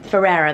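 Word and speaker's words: Ferrera: I got the America Ferrara one Ferreira that's how you say her name Ferreira one um Bobby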